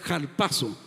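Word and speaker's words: ἁρπάζω: Y esa palabra o harpazo en la gramática griega sobre la alfa hay lo que se llama un espíritu rudo, y entonces se escribe con H, pero se debe leer como J, harpazo, harpazo.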